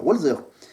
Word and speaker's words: Walzer: Ça doit se prononcer comme ça, Walzer, qui signifie tourner en rond.